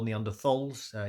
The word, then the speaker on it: Neanderthals: And for those of you who don't know, Neanderthals or Neanderthals, you can use both pronunciations, just for if you are interested in why I'm saying it one way or the other.